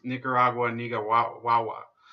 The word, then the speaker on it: Nicaragua: on Venezuela he lost me the moment he pronounced Nicaraguan ego wah wah wah it's Nicaragua what do